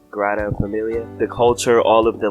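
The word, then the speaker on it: Sagrada Família: I'm never saying it correctly. What is it? It's the Grata Familia.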